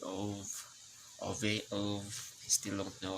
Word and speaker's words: Ove: It's Ove, not Ove.